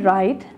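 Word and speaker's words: write: आप राइट की बात करते हो तो वहाँ पर आपका बेसिकली W साइलेंट है।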